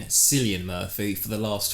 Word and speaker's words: Cillian: About Killian Matthew possibly taking over the reins as Bond. Now, I'm a big Bond fan. You are a big Bond fan? I'm a big Killian Murphy fan.